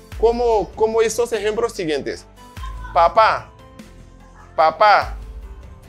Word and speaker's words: papá: Papá, papá, café, francés. ¿Comprenden? Papá, café, francés. Ahí se ve, los acentos están sobre la última sílaba.